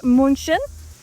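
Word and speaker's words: München: Fun little fact in German Munich is pronounced Munchin and that's because it was founded by monks and munchin means monk.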